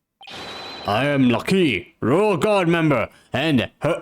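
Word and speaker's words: Lah'Kee: Her name's Lucky!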